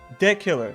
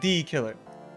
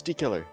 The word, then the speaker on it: de killer: Edgeworth, but it's pronounced de killer, not the killer. But my accent, I have to say D. I can't say de. I think that I actually disagree with you. It's D killer.